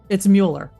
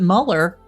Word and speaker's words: Mueller: Well, then is it really Miller? No, it's not. It's Mueller. It's either spelled with the UE or the U with the umlaut. If you pronounce it Muller, then it's also probably Mueller.